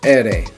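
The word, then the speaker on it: erre: In Spanish it's ere, ere, ere.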